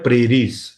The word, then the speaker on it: prairies: है, उसका नाम है प्रेरीज, ठीक है। इसकी स्पेलिंग थोड़ी सी टिपिकल सी रहती है, इसकी स्पेलिंग होती है PRAIRIES, प्रेरीज।